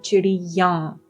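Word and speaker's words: चिड़ियाँ: For plural, it will be chidiyan. Right? The ya sound then becomes nasal for plural.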